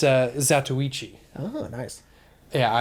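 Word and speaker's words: Zatoichi: blind swordsman oh and i know how it's pronounced it's uh zatsuichi oh nice yeah it's good pronunciation i had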